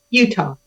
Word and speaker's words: Uttal: think I said your name I pronounced your name wrong earlier say your last name for us Utah Utah and I said Utah so it's so